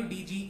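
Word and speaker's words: dodge: जी होते हैं और इसमें डी हमारा साइलेंट होता है, जी पढ़ा जाता है. जैसे हमारा जज है, जी यू डी जी ई, इसमें हम डी नहीं पढ़ेंगे, जज. ग्रज है जैसे कि हमारा वर्ड. डॉज है, डॉज मतलब बच के निकलना, डी ओ डी जी ई, तो इसमें हमारा डी साइलेंट रहता है.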